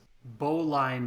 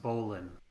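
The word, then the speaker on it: bowline: to do i'm going to tie the it's boline but pronounced bowlin not very conscious this is a knot you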